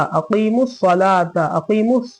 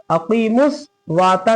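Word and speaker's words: أقيموا الصلاة: अकीमुस सलाता ज़बर ता, अकीमुस सलाता, अकीमुस वाता नहीं है, अकीमुस सवाता नहीं है, क्या है? अकीमुस सलाता।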